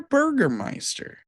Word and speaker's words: Burgermeister: Is there a burger meister?